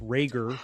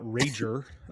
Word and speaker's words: Reagor: Yeah, and as we speak, Caden Reagor, and I'm disappointed that his last name is pronounced Reagor, not Rager.